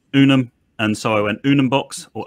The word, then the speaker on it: Unumbox: And so I went Unumbox or Unumbox at the time.